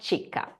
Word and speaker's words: Chicca: My name is Chicca, not Chicca.